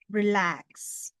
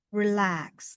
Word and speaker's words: relax: Nah, biasanya ini stres dalam pengucapannya itu ada di belakang. Relax. Relax.